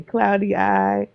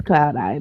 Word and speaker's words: Cloudi: I was like, "Oh, people are probably going to say cloudy eye. people say say whatever. It's just like people say my name, they call me. So Oh, Lord. Or, you know. So it's it's Yeah, it's cloud eye though.